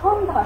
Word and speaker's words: সন্ধ্যা: সাধারণত জফলার উচ্চারণ হয় না। লিখলাম যেমন সন্ধ্যা, সন্ধ্যার উচ্চারণটা আমি কি করলাম, সন্ধ্যা।